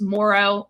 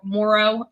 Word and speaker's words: Moreau: we all can agree uh it's pronounced Morrow Mo Morrow okay thank you Emy I